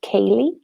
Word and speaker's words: Kayleigh: So my name is pronounced Kayleigh.